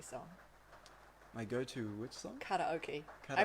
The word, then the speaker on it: karaoke: Karaoke. I Karaoke. pronounce it funny because I studied Japanese for 2 years. Oh, In New Zealand we say karaoke, but it's not karaoke, my loves. It's karaoke. That's fair enough, honestly.